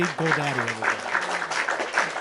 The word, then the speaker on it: Goldade: of applause for Goldade. I said it right, didn't I? Yeah, you did. Yeah, you did. Yeah, thanks for that. It's easy. It's like the GoDaddy site, like you can just kind of like remember it that way.